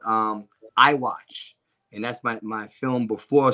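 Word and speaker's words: Eye Watch: films, one is called I Watch. And that's my film before Seven Roses. I did that one in 2017. And that's spelled E-Y-E, the letter I, watch. Like I watch.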